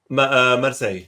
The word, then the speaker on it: Marseille: Marseille, yeah, Marseille.